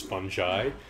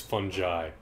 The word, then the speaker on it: fungi: the the plural is fungi it's like it's fungi I'm a fun guy it's not fun guys